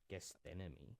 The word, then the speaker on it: Gethsemane: That goes through to that, and basically the Mount of Olives, is it Gethsemane? That's how you pronounce it. Gethsemane.